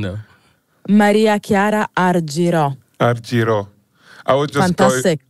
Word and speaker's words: Maria Chiara Argirò: and electronic Fusion we got the incredibly talented Maria Shara ariro did I pronounce it properly uh not quite but I'm